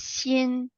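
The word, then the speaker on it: 心: bottom this part is also a Chinese character pronounced as Shin Shin means heart so you put more hard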